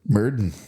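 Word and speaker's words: Myrddin: But in Welsh, u Min is spelled M Y R D I N. So Min, the two D's make a th sound in Welsh.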